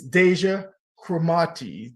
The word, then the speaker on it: Deja Cromartie: lipstick please welcome the inspiring and intelligent Miss Deja kramati did I pronounce it correct yes you did you did